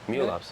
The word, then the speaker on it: Mu Labs: Is it pronounced correctly? Mu Labs, yeah.